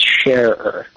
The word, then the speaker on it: Schaerer: So just like the word share, like if you're sharing something, add an ER to that, and it's Schaerer.